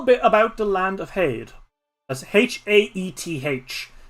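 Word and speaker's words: Haeth: of hade as h-a-e-t-h unfortunately us irish people at least me i know again uh have some difficulty pronouncing th as you may have noticed so uh paid that's how i'm gonna be saying it it is not my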